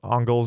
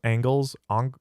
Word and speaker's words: Engels: Sorry, this is irrelevant, but please don't pronounce Engels as Angles.